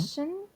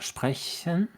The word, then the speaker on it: sprechen: You say it like sprechen. Sprechen. And, your tongue is quite far forward. And if you do sprechen, it's pulled downwards a little bit.